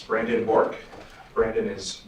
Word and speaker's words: Bourque: State your name for the record and spell it first and last name, please. It's Brandon Bork.